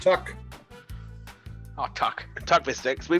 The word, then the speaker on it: TUC: it down food yes these are pronounced tuck oh tuck tuck mistakes